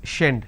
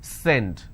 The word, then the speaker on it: send: For example, send, and they pronounce this, so if you make a mistake, you will end up pronouncing this as shend, shend it. It's not shend, it's send.